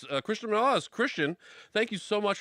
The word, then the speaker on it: Cristian Morales: And I'm Cristian Morales. That's how you pronounce it, by the way.